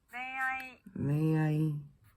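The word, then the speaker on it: 恋愛: 이 글자들 아행, 하행, 야행, 와행 앞에 왔을 때, 그리고 응이 단어의 맨 마지막에 왔을 때는 니은과 이응의 중간 발음으로 소리 납니다. 자, 예를 들어서 연애라고 하는 단어 레아이라고 하는데요.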